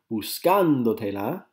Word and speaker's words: buscándotela: Buscándotela, the accent's on the A, as you can see underlined there.